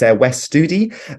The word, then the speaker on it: Wes Studi: It's a Native American actor called let's see if I can pronounce his name right. It's Wes Studi, but he played the main villain in Last of the Mohicans.